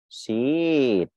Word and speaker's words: sheet: Đó, mình sẽ không đọc là sheet, mình đọc là sheet.